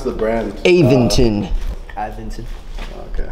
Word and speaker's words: Aventon: you pronounce the brand aventon aventon okay aventon you got it right I pronounce that in Spanish that's how it looks like it's spelled in Spanish you say rocks in